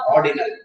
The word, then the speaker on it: ordinal: எப்பவுமே இந்த ஆர் வந்து ப்ரொனவுன்ஸ் பண்ணக்கூடாது இங்கிலீஷ்ல. ஆர் இப்ப மார்க்கெட்டிங் என்ன சொல்லுவோம்? மார்க்கெட்டிங் அப்படின்னு சொல்லக்கூடாது. அந்த ஆர் சொல்லவே கூடாது. மார்க்கெட்டிங். சோ அதான் ஆர்டினல். நம்ம சொல்றப்பே அப்படிதான் வருது. ஆர்டினல் அப்படின்னு சொல்லக்கூடாது. ஆர்டினல். ஆர்டினல் scale.